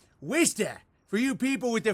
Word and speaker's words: Worcester: universe walsh chester massachusetts it's pronounced worcester for you people with